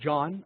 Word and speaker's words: Joan: So first of all, hey panelists, I'm John. I know it's spelled J-O-A-N, but let's just keep it nice and simple and call me John.